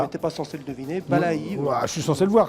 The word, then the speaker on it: Balaÿ: Oui, ça se prononce Balaï, mais... Ah, alors c'est pas Ballet alors, Balaï.